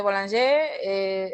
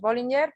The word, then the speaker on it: Bollinger: Porque yo creo que el que ha ido a Francia dice Boulanger, aquí en España decimos Bollinger, pero sin embargo el origen del nombre es alemán, entonces La pronunciación en sería alemán otra. tiene otras connotaciones aquí en España, sería Bolinga.